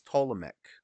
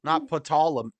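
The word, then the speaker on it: Ptolemaic: don't think he is I think the p is silent it's it's ptolemic not petalum not Ptolemy it's Ptolemy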